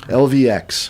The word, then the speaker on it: LVX: and we figured out how to pronounce it right lvx it is yes yeah I thought it was Lux but no it is it is a v so club lvx and